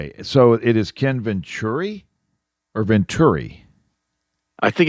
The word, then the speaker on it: Venturi: And then I would put Ventur, like TER, Venturi.